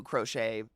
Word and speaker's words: crochet: people I know who crochet and can crochet literally anything she's so talented um side note until I was in my 20s I pronounced it crotchet so okay so like